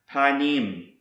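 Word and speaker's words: פָּנִים: word that starts with the letter P is pronounced panim and it means face presence front surface appearance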